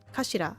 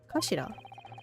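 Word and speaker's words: 頭: hilt oh that too it's written as head in Japanese but it's pronounced as Kashira I believe kashida so Mr ASI's words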